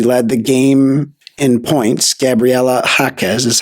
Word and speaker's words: Gabriela Jaquez: She led the game in points, Gabriela Jaquez, is how you say it.